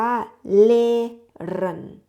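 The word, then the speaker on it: lehren: มัน มี ตัว ฮา ตัว ฮา ถ้า อยู่ ตรง กลาง ภาษา เยมัน เรา จะ ไม่ อ่าน ออก เสียง แต่ จะ ลาก เสียง คำ แรก ยาว ๆ ค่ะ นะ คะ มัน จะ ลาก เสียง ยาว เลย นะ คะ เพราะ ฉะนั้น ตัว นี้ อ่าน ว่า เลน นะ คะ เลน เลน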